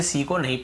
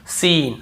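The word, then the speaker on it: scene: salient है और देखिए सीन एस ई एन ई सीन ऐसे पढ़ रहे यहां पर भी सी को नहीं पढ़ रहे स्कीन स्कीन नहीं पढ़ रहे सीन सीन यानी कोई दृश्य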